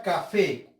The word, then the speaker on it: café: y la sílaba c segundo paso identificar la sílaba tónica café café no café aquí ya identifica personas